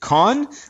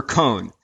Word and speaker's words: Kohn: Is it con or cone? Cone like an ice cream cone.